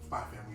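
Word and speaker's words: Spy × Family: Spy Family, you don't pronounce the X.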